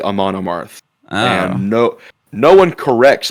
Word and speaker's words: Amon Amarth: Amon Amarth, that's how you say it. I think I've been saying that band name wrong the whole time. I think I call it don't know if I'm right, Amaranth.